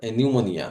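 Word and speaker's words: pneumonia: নিউমোনিয়া, নিউমোনিয়া বানানটি খুব আসে এবং পি এর উচ্চারণ এখানে হয় না, পি সাইলেন্ট থাকে।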